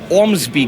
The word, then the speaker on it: Ormsby: about that anyway we're here to talk about Ormsby guitars I'm saying that correctly it's one of the brands that can actually pronounce yeah that's correct yes bombs by ohm